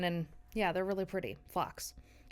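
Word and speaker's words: phlox: And then I got some purple I think they're called flax or flanks with a ph. Um they're just cute little purple. Do you know what they are? Yeah. Yeah. Yeah. You're I think you're just saying it wrong.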